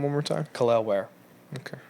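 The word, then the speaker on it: Kel'el Ware: Khalil Ware. Okay. It's like Khalil, but it's Lel.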